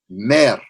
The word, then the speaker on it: mer: Mer. I would spell it M-E-R, but the way it sounds is mer.